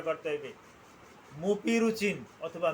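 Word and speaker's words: Mupirocin: আমার তো ভুল করা চলবে না আমাকে সঠিক উচ্চারণটা করতে হবে মুপি রুচিন অথবা মিউপি রুচিন আমি আবার বলছি মিউপি রুচিন অথবা মুপি রুচিন হ্যাঁ এইটা টু পার্সেন্ট এটা বিভিন্ন কোম্পানির বিভিন্ন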